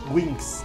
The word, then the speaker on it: Winks: O Winks, ¿cómo se pronuncia? Winks.